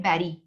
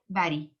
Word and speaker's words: bury: ये लफ्ज जो है BURY, इसको कहते हैं बैरी, प्रोनाउंस करते हैं बैरी।